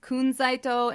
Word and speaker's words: Kunzite: Kunzite is technically pronounced Kunzaito in Japanese.